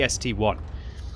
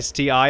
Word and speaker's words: ST-I: It's clearly the ST1. Don't pronounce it like an STI, otherwise you're going to be becoming a captain when you get that double-barreled tank and be calling it the STII, sir.